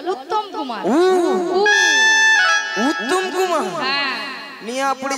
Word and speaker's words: উত্তম কুমার: ও শ্রী শ্রী শ্রী উত্তেল কুমার নয়, বলো উত্তম কুমার।